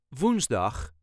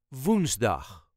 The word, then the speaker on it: woensdag: op dinsdag My meeting is on tuesday dinsdag woensdag is Next woensdag emphasis on the syllable woensdag woensdag Ik heb op woensdag een